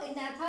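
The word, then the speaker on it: Agnatha: यहाँ पर जी साइलेंट है, इसको एनाथा बोला जाता है।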